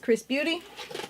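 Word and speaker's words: XRS Beauty: foreign it says XRS but it's pronounced Chris Beauty and I did go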